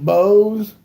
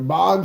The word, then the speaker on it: Bogues: Muggsy Bogues or Boggs? I think it depends on how you say it. I think Muggsy Bogues.